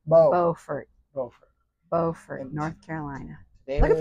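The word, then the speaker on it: Beaufort: you're in North Carolina you need to say bordt BT bordt North Carolina look at the beautiful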